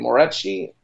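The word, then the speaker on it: Moreci: oh ah Michael uh how do you say his name more edgy edgy yeah Michael Murray see Michael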